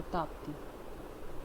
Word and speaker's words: ताप्ती: अब हम बात करते हैं next one, that is Tapi और ताप्ती, कुछ भी बोल सकते हैं, दोनों नाम से प्रोनाउंस होती है।